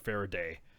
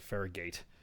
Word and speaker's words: Faraday: I'm not a computer guy, so forgive me for my pronounce of Faraday. I said Faragate.